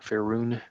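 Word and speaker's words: Faerûn: But yeah, going between is it Faerun? Is that how you pronounce the Forgotten Realms world? Faerun.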